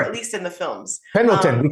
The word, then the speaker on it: Pendleton: Pendleton, we call them Pendletons.